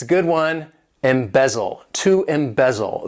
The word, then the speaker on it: embezzle: Embezzle, to embezzle. This verb has 3 syllables and the stress is on that second syllable, embezzle, embezzle.